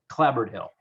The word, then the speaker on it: Clapboard Hill: And for the record, in Guilford, we call it Clapboard Hill. Clapboard. It's like New Haven. It's the same kind of idea. There's a slurring of syllables there. Yeah, you kind of roll it.